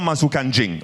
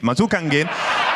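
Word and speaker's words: masuk angin: Okay, so it's not mazukanjing. Mazukangin. Okay, so I was confused.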